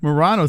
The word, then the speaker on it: Morono: I've been saying Morono this whole time. No one could have told me it was Morono except for Who Cares.